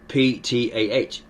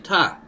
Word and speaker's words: Ptah: Yeah, it's like you have in Egyptian the word P-T-A-H. You don't say Ptah. Yeah, the P is silent, you're just saying Ta.